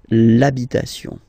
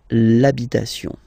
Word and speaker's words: l'habitation: for the masculine part, even if you've got this H, then the first sound you hear is A, okay, so for the same reason you will have to take this A away, and then you get this l'habitation, l'habitation, okay, and then